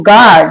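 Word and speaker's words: guard: जब किसी वर्ड में जी के बाद यू हो जब किसी वर्ड में जी के बाद यू हो तो यू साइलेंट रहता है।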